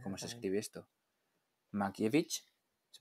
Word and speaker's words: Mankiewicz: Mankiewicz, se pronuncia así, ¿no? Mankiewicz y Orson Welles, efectivamente. Mankiewicz.